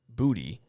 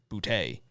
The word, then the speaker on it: Booty: People were asking uh Kan Booty. They're they for whatever reason all the announcers have been pronouncing it um bouty, but it's not. It's booty.